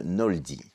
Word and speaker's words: Knowldy: fondatrice et présidente de Noldi. Yes. Alors, qu'est-ce que c'est que Noldi ? Qui s'écrit K N O W L D Y ? Ouais. Donc déjà, c'est basé sur tout no en anglais, la connaissance, le savoir.